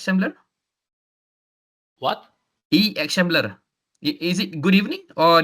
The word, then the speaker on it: akşamlar: X Shambler, if I'm not mistaken. Is it correct, Prof? The pronunciation X Shambler? What? X Shambler.